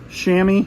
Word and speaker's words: chamois: This shirt we picked up, it's Chimley's, chamois is how you say that, and it's long tall, which is better, or large tall, long tall Sally.